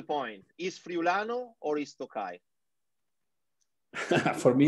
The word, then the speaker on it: Tokai: As your father say, it's written Friulano, but it's pronounced Tokai. Is that correct? Yeah, correct. You write Friulano, but you pronounce it Tokai because this is the name you call it.